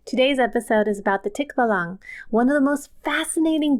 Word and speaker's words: Tikbalang: Before we continue, there are two ways to pronounce this creature's name. The first is the Tikbalang, and then in other regions, they pronounce it Tikbalang. I'm going to do Tikbalang because that is the one that is most natural for me.